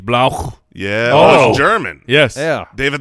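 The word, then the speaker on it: Blough: who's the backup Jay I believe it is pronounced David blow I've we don't I don't know for sure yeah is that how you would pronounce that Mike the L Oh ugh I would not blah blah either way it's gonna blow they maybe need more emphasis on the gh blow yeah germán yes yeah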